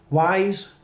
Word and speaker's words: Ys: to pronounce this game the first one is he said wise is exactly how you would read it as a native english reader because it's a y